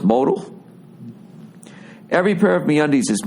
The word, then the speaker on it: modal: the following no mo Modell is pronounced modal every pair of meundies